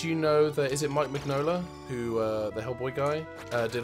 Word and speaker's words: Mike Mignola: Did you know that, is it Mike Mignola, who, the Hellboy guy, did a lot of character designs on Atlantis? I believe it's pronounced McKay Magnolia.